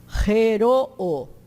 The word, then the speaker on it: heroo: Vocês viram que eu pronunciei cada vogal numa sílaba, né? Porque se tem dois O, tem que pronunciar os dois O. A gente, no inglês, o dois O forma a função de U, dois E forma a função do I, né? Mas aqui não. É exatamente a mesma letra pronunciada separadamente. Harmonio, que o estas harmonio.